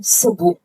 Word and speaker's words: Sebu: Sa word po na Lake Cebu, yung tribal word po dyan ay yung Cebu. Yung S-E-B-U po, yung tamang pagbigkas po nun ay Cebu.